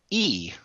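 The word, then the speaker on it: אִי: which is translated Isles is / is actually pronounced e it's like an ey it's pronounced E and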